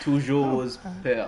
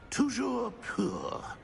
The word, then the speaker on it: Toujours pur: Toujours pire. Very well. Yeah. Toujours pur. Ha! Stopper! Stopper! That's not right!